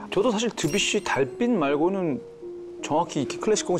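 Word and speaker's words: Debussy: 야, 저도 사실 드뷔시 달빛 말고는 정확히 클래식 곡을 잘 모르니까. 근데 미국에서는 드뷔시를 데뷔시라고 부르던데.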